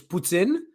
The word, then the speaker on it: poutine: it no no well the way you pronounce it is so it's Puttin like you have to have a real little French to it you know but the